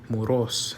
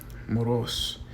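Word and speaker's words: μωρός: So it would be moros, and it has a acute accent, above the O. So you would stress that syllable. You would emphasize that. So it would not be moros, but moros, not moros, or moros.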